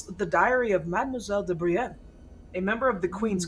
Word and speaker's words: Brienne: You said Madame Briette? Is that what you said? Brienne. Brienne. Mademoiselle de Brienne.